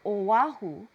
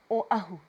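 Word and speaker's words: Oʻahu: Don't forget that okina, there's no W there, so it doesn't sound like Oahu. It's Oahu in the back of your throat.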